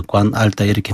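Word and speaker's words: 官二代: 그래서 앞에 그게 일성이고요. 알따이는 사성에서 관알따 이렇게 발음이 관알따이.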